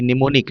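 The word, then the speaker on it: mnemonic: और यहां पर क्या हो जाता है?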